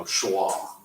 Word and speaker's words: schwa: two dots these two dots it's called a schwa you know you pronounce it when you're saying it you say it like you know schwa I mean I know it looks like Shiva